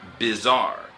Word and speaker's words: bizarre: And the last word is bizarre. 変ってことね。 Right, and bizarre is spelled B-I-Z-A-R-R-E.